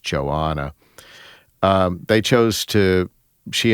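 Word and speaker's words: Johanna: So, uh, but Joanna, and it's it's spelled J O Han N A. I think that's pronounced Joanna.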